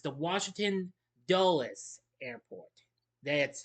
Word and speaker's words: Dulles: Yes, it's the Washington Dulles airport. That's how you pronounce it. Dulles.